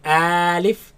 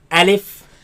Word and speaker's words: ألف: Now this letter you are to pronounce it fast. Do not say Alif and do not say Alif. Say Alif.